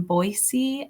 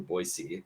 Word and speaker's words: Boise: that you're based in Boise and B I was surprised you pronounce it Boise instead of Boise yes you know people are from here if you say Boise not Boise um yeah correct one